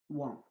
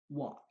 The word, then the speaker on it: watch: When letter A is after W sound, letter A is pronounced as O. O want. Watch, watch, watch, watch, watch what.